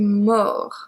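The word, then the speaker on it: mort: going from movie to more more so we don't pronounce the t more so basically the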